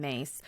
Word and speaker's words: Myss: One of my favorite spiritual teachers over the years has been Carolyn Myss. Her last name is spelled M Y S S in case you've